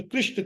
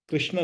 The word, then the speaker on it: कृष्ण: हरे कृष्ण हरे कृष्ण कृष्ण कृष्ण हरे हरे हरे राम हरे राम राम राम हरे हरे यह रामा नहीं है राम है कृष्णा नहीं है कृष्ण है ये जो मंत्र है